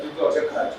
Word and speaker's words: jugaad: how to pronounce Jugaad or Jugaad?